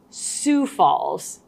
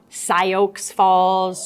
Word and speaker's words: Sioux Falls: Well, first of all, I'd say it is in fact pronounced Sioux Falls, not Sioux Falls, Sioux Falls.